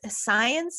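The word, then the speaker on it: Saenz: up my name science it's s-a-e-n-z it sounds like science but it doesn't spell that way i also have a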